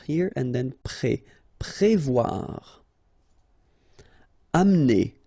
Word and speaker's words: amener: Amener. Don't insist on the E here because you don't really pronounce it. Amener.